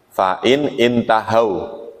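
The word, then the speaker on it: فَإِنِ انْتَهَوْا: Cuman kalimat intahau itu ada hamzah wasolnya, maka dibacanya fa'inin tahau.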